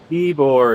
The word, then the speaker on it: Ybor: It What is is- called Ybor. Ybor is how to say it.